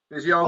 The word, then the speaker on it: physiognomy: Let me see if he He's says pronouncing it the G. All right, reading faces. Okay. Physiognomy. There it is. Hear that? Physiognomy. Yeah, I like that. That is more reasonable.